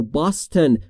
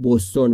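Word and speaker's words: Boston: میکنه برای کجا فور باستن برای بستن ما فارسی میگیم بستون ولی تلفظ درستش باستن یعنی بستن یعنی کدام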